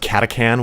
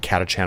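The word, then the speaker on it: Catachan: would be Kata katchan or as I found is pronounced katakan which is it feels weird because I've pronounced it katchan my whole life but um Hive world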